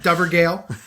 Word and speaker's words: Dovergal: So there's one here that's Dovergal or Dovergale. Well, the pronunciation's right there. Get it right, Dan. Dovergale. And it's dove with a BH for the V sound.